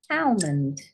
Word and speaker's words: almond: silent G height and a silent L almond I done a silent